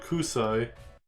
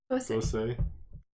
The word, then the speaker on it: Kosei: I said Kusai. Kosei? Kosai. Kosei? Kosei. Kosei.